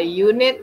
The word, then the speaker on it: unit: Tapi kalau yang bacanya kayak pakai huruf Y di depannya, Y kan huruf mati ya. Nah, jadi di sini a unit, a unique building, nah itu kita pakainya Jadi nggak pakai en.